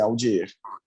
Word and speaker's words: Audier: E já digo que é Audier mesmo, a pronúncia é Audier, está corretíssima.